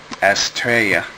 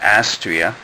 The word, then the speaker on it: Astraea: Um, finally, after months of showing off the box, I'm get I built the Astraa um type F. You're gonna have to excuse me if I say Astraa instead of Astria, which is the way it's pronounced according to